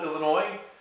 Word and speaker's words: Illinois: We're in wonderful Illinois. Illinois depends on how you say it. I don't think anyone says Illinois. Somebody say Illinois. I thought, well, can I say it or not? But Illinois. Anyway, we are here.